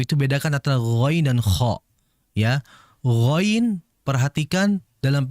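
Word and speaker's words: خ: Ya, ghain itu pengucapannya sangat halus, kha itu kasar menurut saya. Maka oleh sebab itu bedakan antara ghain dan kha.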